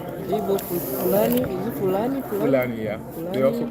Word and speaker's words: Fulani: Fulani, yeah. They also call them Fulani or Hausa. So yeah, we have three major languages: the Igbo, the Hausa or Fulani, and the Yoruba.